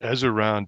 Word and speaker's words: Ezaron: Ezer yeah, Ezaron, I think it's pronounced Ezaron Defense, a 3D fantasy tower defense title.